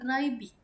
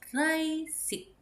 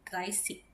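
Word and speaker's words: dreißig: Untuk 30 ini bukan Reibig, tapi Reisig. Ya, Reisig.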